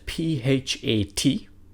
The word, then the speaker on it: phat: So it's spelled P-H-A-T, but when you pronounce it, it sounds like this, phat.